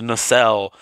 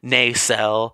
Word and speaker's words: Nacelle: And yes, his name is pronounced Nacelle. Stop saying his name wrong. It's not Nacelle. It's not Nacelle. It's not Nakel or whatever.